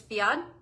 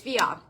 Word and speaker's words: Fiadh: Fiadh is Fiadh. And the last 2 letters aren't really pronounced when you say it out loud.